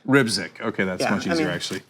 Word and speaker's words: Rybczyk: Perry Meade, Jake Rybczyk, I'm sure I said that last name wrong. Mahmoud El-Farra. So Jake, how do you say it? Rybczyk. Rybczyk.